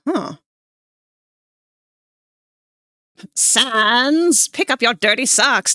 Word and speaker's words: Sans: Is it Sans? I need sense Undertale to make French puns effective immediately. Oh, you don't pronounce the second S at all, huh? Sons, pick up your dirty socks.